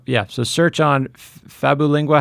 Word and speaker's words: Fabulingua: yeah so search on fabu lingua how do we spell that sure sure sure search babbling WA is f as in Frank fabu like fabulous and then lingua lingua like Li ng you